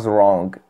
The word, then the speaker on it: wrong: كي اللي كيقولها wrong كل واحد والاكسون ديالو هادشي كتكتب بالجي كيف ما كتشوفوا wrong. I was wrong. من الاحسن ما تنطقوش ديك الجي.